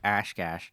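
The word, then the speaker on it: Oshkosh: a buddy down in ashkash that was like he had his whole basement was covered wall toall you got to say it like Ash Cash like Ash Cash anyway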